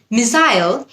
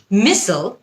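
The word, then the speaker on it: missile: মিসাইল হচ্ছে British উচ্চারণ। মিসেল হচ্ছে আমেরিকান উচ্চারণ।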